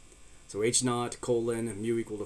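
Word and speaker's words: H₀: perhaps we reject it we use H Sub Zero known as H naught so we pronounced that H naught to refer to the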